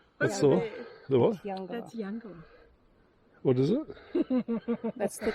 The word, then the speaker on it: Eungella: That's Eungella. That's the what? That's Eungella.